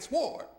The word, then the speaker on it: sword: So I said sword because the W is right there. I can see it. Right? Phonetically, that W, but it's really silent.